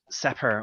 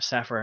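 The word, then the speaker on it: Sepehr: in the world uh Robert sepper or Zephyr however he says a property I'm not sure exactly maybe you reckon it's supper is that it yes that's how he pronounces it I do believe now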